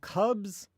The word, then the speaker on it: cubs: Now the thing is, both of these words, they end with the letter S, right? S. S, we think of as native English speakers as being pronounced as S. S, S. But what's happening if we say cubs, we're actually not saying, we're saying the S as if it was a Z.